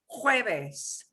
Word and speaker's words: jueves: You do hear an H now, jueves, because the J always gets a ch sounds.